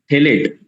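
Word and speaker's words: phthalate: तो हाँ थैलेक्स ना, थैलेट PTH, अच्छा फैलेट LAT, ठीक सर। P उसमें साइलेंट है, TH से स्पेलिंग होगा थैलेट।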